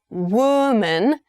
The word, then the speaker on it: woman: Although the spellings of these 2 words are roughly the same and only the vowel sound at the end appears to change, actually the O sound at the beginning of the word also changes.